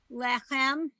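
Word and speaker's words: לֶחֶם: In general, Hebrew words are accented on the last syllable. That's a So rule of challah. thumb, so to speak. So it's challah, lechem, minucha, echad.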